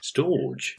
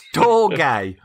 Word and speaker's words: storge: to pronounce and there's it's spelt storge storage to me that sounds like a steam pudding but that's probably a whole new episode uh it's storge it's it it's spelt s-t-o-r-g-e storge and that's a natural